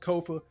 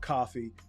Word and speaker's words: Kofa: I have been your humble host, Kofa, K-O-F-A, not coffee, not, not Kofi, or any variation thereof. Kofa rhymes with sofa.